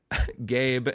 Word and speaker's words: Gabe: Gabe, and then I love they give a pronunciation key, and it just says, pronounce like the word gay. Then you add a B sound.